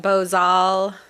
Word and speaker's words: bozal: I've always pronounced it Bosel, Both. and I've heard 3 or 4 different pronunciations. So I guess it's really whatever you're comfortable with. It's Spanish, so I'm sure that Bozal is probably the more correct pronunciation.